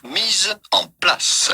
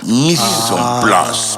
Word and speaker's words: mise en place: But in French, typical French pronunciation, mise en place. mise en place, mise en place.